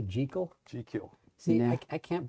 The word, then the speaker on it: Jekyll: By the way, he pronounced it Jekyll, but Oh, really? yes, Oh, yeah? he insisted that was the Scottish pronunciation.